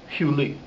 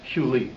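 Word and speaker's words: hyle: Nikra laYevanim huli, and the Greeks, meaning the Greek philosophers, Plato primarily, knew it as huli. H-Y-L-E is how you spell it in in English or Greek or Latin.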